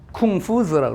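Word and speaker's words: 孔夫子: 쿵푸즈라고 그럽니다. 공자는 공수 그러는데 쿵푸즈 그러니까 얘네들이 라틴어로 딱 쓰고서 이걸 컨푸치우스, 라틴어 발음하면 컨푸치우스 이렇게 발음한 거예요.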